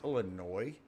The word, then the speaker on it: Illinois: old state of illinois so annoying when people say illinois don't they know it's a silent s or hell maybe i'm the only one after 40 plus years that that doesn't know that but it's illinois uh anywho uh degree to